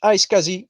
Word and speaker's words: iSCSI: the the trend now is what we call i ski uh iscsi we pronounce it iscsi which means internet small computer system interface don't